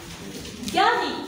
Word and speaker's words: Gary: Gary, le G avec A, ça donne gars. Et le R avec Y ici, elle est toujours égale à I. Ça donne ri.